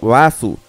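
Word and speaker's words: バース: Barth en japonés es pronunciado Basu, y su escritura coincide perfectamente con la de la Reverse Mountain.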